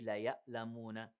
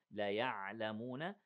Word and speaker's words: لَيَعْلَمُونَ: Don't say لَيَأْلَمُونَ. It is عَيْن, not Hamza. لَيَعْلَمُونَ.